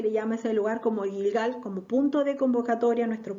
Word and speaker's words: Gilgal: Jericó de jerie ya aquí les puse como se escribe Cómo se dice ya este es gigal la fotito más grande es gilgal ya aquí esta foto está tomada de un